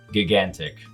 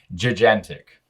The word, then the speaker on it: gigantic: You may be more familiar with its proper pronunciation, gigantic. Today, Junior! Wait, the same letter has 2 different sounds in the same word?